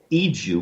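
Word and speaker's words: Igo: It's called the Iju. One of the ways that it's spelled is I-G-O.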